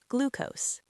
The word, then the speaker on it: glucose: First, glucose. It's pronounced glucose with a long oo sound, like in the word blue.